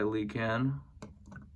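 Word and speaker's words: Lhikan: So around that time, he was gifted a Toa Stone by Likan, as the official pronunciation, I believe, says, even though that sounds stupid.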